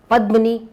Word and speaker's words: Padmini: you very much for coming, Padmini. Thank you. I know your name rhymes with me, Kamini, but at the same